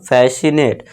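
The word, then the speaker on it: fascinate: इसे क्या पढ़ेंगे हम, अब सी को साइलेंट कर देंगे और इसे क्या पढ़ेंगे हम, फैसिनेट।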